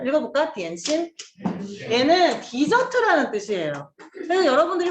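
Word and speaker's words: 点心: 그리고 이거를 이제 딤섬은 광동어고 점심이라는 한자를 디엔신이라고 하거든요. 읽어볼까? 디엔신.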